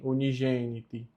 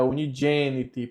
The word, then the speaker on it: unigeniti: Unigeniti, aqui tem uma observação, não fica gen, unigeniti. É unigeniti, porque toda vez que o G vem com o E, ele fica a pronúncia J, então fica unigeniti, como eu coloquei aqui em cima.